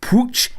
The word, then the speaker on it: Puig: it for a while there is a different pronunciation in Catalan on that second name it's Ricky pooch in Catalan but actually for me it's very very difficult to pronounce it like that so I've stuck with Puig I'm trying to ease my